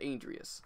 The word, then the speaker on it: Andreas: They said Andreas.